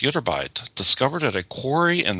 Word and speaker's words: Ytterbite: I don't know how to pronounce it, but Ytterbite? You pronounced it correctly. It's Ytterbite, discovered at a quarry in the village of Ytterby, Sweden.